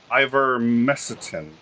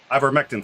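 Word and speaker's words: ivermectin: she has also uh demanded um ivermecitin i'm not even sure i'm pronouncing that correctly um i've vermectin thank you and i have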